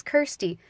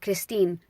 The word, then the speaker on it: Kirstie: I was growing up it is Kirsty just like thirsty with a k' super simple k I are not k RI I even asked my